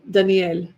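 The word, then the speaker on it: דניאל: Danielle.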